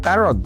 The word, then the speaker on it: Tarog: Tarog is how we pronounce his surname.